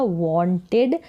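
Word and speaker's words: wanted: तो राम चाहता था, वांटेड। अब इसको वांटेड पढ़ेंगे, वांटेड नहीं पढ़ेंगे, इसका उच्चारण होगा वांटेड, ओ करके यहाँ पर ये जो ए है इसका उच्चारण होगा, वांटेड नहीं वांटेड। टू साथ में आएगा, फिर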